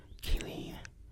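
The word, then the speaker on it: Kayleen: But I do wonder, Kaylin. Or is it Kaylin? I can't be Kaylin. It's Kaylin. Wait, no, it is E-E-N. Kaylin.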